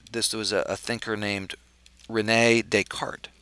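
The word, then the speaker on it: René Descartes: was a thinker named Renee deart re NE with an accent and d s c a r Tes but silent s Renee deart he was a French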